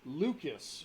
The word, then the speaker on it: Leuchis: An etching at the base of the statue reads, Lucas, who traveled on the wind. That's spelled Leuchis. Spelling doesn't really matter.